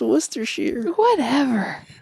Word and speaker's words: Worcestershire: And I said Worcestershire? It's pronounced Worcestershire.